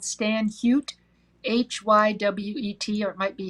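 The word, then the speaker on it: Stan Hywet: i think it's called stan hute h-y-w-e-t or it might be hot anyway for their needlework chapter it's stan like stanley h-y-w-e-t and if you go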